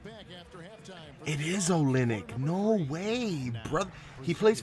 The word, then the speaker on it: Olynyk: It is Olynyk. No way, brother. He plays for the Spurs? Okay, yeah, it was Olynyk.